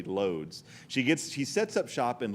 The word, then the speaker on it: Łódź: And again, it's pronounced Łódź or something, but I'm going to say Lodz.